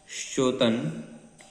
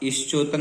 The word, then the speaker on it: श्चोतन: श्चोतन मदाविल विलोल, यहाँ ईश्चोतन नहीं पढ़ना है, ई का उच्चारण नहीं करना है।